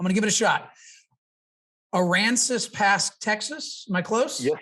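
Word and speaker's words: Aransas Pass: lee but i'm gonna give it a shot aransas past texas am i close yes sir good job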